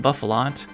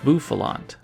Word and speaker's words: Bouffalant: And I called this Pokémon Bouffalant, which is an honest mistake because it's based on a buffalo, but nope, it's Bouffalant.